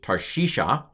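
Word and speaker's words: תַּרְשִׁישָׁה: it's a silent schwa this syllable is closed tar it's a it's a unaccented closed syllable t-a-r tar we don't translate the Shava and then shisha you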